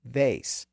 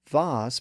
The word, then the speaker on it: vase: The vowel was eventually raised to vase, which is confirmed by its use in poetry, where it was used to rhyme with words like face, grace, chase, and case. That pronunciation was largely retained in American English, but in Britain, the vowel tended to shift back down to ah, so that vase became common there.